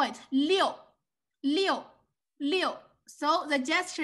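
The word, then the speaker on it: 六: leo we call it leo right number six and this one leo means flow flow water flow they also call it leo you see same liu the pronunciation same just different tones this one this one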